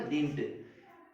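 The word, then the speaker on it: didn't: देंगे, तो क्या होगा, डिंट। ये डिडंट नहीं है, डिंट कहा जाएगा, इसको पुकारा जाएगा। तो इसका उच्चारण जो प्रोनाउंसिएशन डिंट रहेगा।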